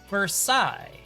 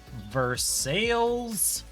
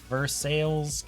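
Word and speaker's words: Versailles: this is a French word right right that's pronounced Versa right no not in the American South this is veres Kentucky and there's Mar sales Kentucky to the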